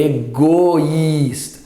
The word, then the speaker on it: egoísta: Não é egoísta, é egoísta. Goi. O i, goi. Distintas as duas pronúncias.